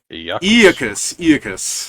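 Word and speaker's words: Aeacus: Aeazus pronunciation. Iacus.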